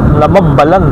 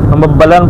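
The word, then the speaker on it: Nambbalan: Nandito na tayo sa nabalan nabalan yan nabalan o minsan hindi ko talaga ma- pronounce yan nambalan ba o namabbalan namabbalan pala yung tamang i-pronounce niyan guys so nabubulol pa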